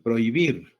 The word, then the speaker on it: prohibir: Profesor, la palabra prohibir solo tiene dos sílabas, no tiene tres, ¿ah? ¿Por qué? Porque no la tomamos en cuenta a la H.